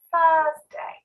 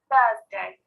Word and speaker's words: Thursday: thursday thursday thursday so notice that i don't pronounce the r i don't say thursday and i don't say thursday but i say thursday thursday notice that as well